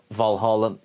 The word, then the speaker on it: Valhöll: Well, first things first, Valhalla is a Victorian misspelling of Valhöll, so from this moment onwards, throughout this video, I shall pronounce it Valhall.